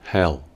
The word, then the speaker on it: hell: para decir infierno decimos Hell palabra donde la pronunciación de la letra e del medio tiene un sonido tipo ea Hell Hell expresiones en